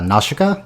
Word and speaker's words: Nausicaä: NOA and uh which they pronounce her name differently in the sub by the way which I noticed uh nasika it's hard it's not an English thing so it's hard to